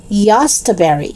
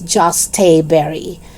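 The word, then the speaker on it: jostaberry: about this particular fruit some of them they mentioned this term as yasta berry for some reason and another gardener said that it's just a berry but take note that the dictionary says is joste berry okay number 37 jujube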